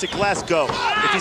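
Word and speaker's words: Glasgow: school I didn't know I didn't know where glassow England was either Norman Smiley reaching for the tag not enough momentum behind him actually should pronounce it glass go if you say glass gout around these people you might get you might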